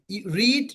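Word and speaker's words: read: রিড, রেড, রেড। এটা কি এখানে উচ্চারণটা হবে রেড, কারণ এটা ভার্ব থ্রি। ভার্ব থ্রি বা ভি থ্রি। রিড এর ভি থ্রি হচ্ছে, বানান কিন্তু সেম, একই, কিন্তু উচ্চারণটা রেড হবে।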